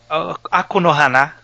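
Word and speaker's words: Aku no Hana: Eles ele sai lá pro meio de abril e será de Akunohana. Olha só. Maravilha. Então, Akunohaná seria a pronúncia correta japonesa.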